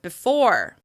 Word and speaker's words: before: Now we have the or sound you hear in the word before. As you can hear, I'm reducing that first syllable in order to really focus attention on that second syllable, before.